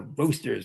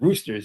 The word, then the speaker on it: Roasters: I go, "The name of the band is is Jeff Suma and the Roosters, not Roosters. You can't say Roosters." Right. Right. I gota spell it out.